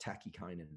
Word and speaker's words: tachykinin: protects against the release of a molecule called tachykinin. It's T-A-C-H-Y-I-N-I-N, tachykinin. I'll just spell it out.